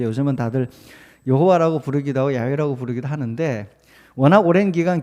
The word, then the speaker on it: 야훼: 이게 이제 히브리어로는 야훼라고 부르는 게 가장 정확한 발음인데요.